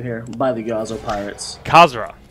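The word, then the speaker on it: Khazra: by the yzo Pirates kazra k h a z r a I believe is the pronunciation for those the uh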